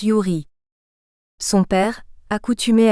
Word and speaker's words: Ewry: aux États-Unis d'Amérique son nom de famille se prononce Yuri son père accoutumé à la boisson abandonne le